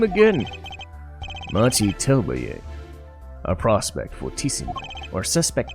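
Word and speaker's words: Machi Tobaye: Machi Telbaye.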